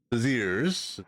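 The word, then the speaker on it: Béziers: In just one day, the peaceful city of Beziers, that's how you pronounce it, has been plunged into massacre.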